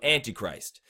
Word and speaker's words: Antichrist: you got the tea and then Christ so Antichrist that's how you say it normally that's where